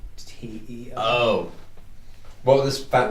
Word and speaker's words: Teo: T-E-O. Oh. What was this fact that's pronounced Teo?